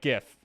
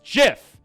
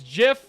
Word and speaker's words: GIF: And it's only slightly better for the people who pronounce it like GIF. Okay? It's GIF. It's GIF like the peanut butter.